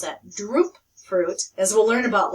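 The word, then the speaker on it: drupe: to hand harvest the cashews the cashews are droop fruit and drips excuse me let me pronounce that droop fruit as we'll learn about later and the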